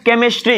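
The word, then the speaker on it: chemistry: जिवन है पहले एग्जांपल केमिस्ट्री यहां पर देखना अच्छे से च तो केमिस्ट्री में क्या हुआ हा साइलेंट है सिर्फ सी का साउंड ए रहा है तो हो गया केमिस्ट्री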